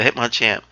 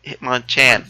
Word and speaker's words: Hitmonchan: Am I saying it right? Hitmonchan. Hitmonchan. There you go. I'm putting two Pokemon together, and those models look awesome. Yeah, an easy way to remember that: Bruce Lee, Jackie Chan.